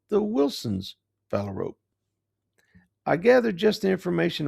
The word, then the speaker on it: phalarope: It's pronounced phalarope. That last part is just like a rope you'd tie a knot with.